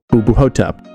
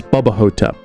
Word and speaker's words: Boo Hotep: Like me, always mispronouncing Boo Hotep as Bubba Hotep, because I'm an idiot.